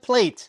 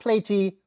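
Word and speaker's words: Playte: Well, then you might like Plate. That's pl a y t e pronounced plate, not platey, plate.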